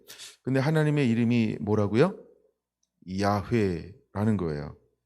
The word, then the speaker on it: 야훼: 우리가 이제 그래서 영어로는 여호와 이렇게 하는데 히브리어로 우리가 야훼 이렇게 이제 발음을 하는 거죠. 이건 정확한 발음은 아무도 모른다. 그러니까 뭐 그렇게 하지만 보통 우리가 야훼 이렇게 발음을 합니다.